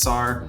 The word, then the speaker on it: Sar: My name is Sar, rhymes with car.